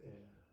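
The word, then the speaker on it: אל: It's A-L, but pronounced El.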